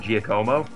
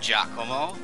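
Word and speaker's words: Giacomo: Um because because you keep moving them in front of Gcomo. It's pronounced Jacomao.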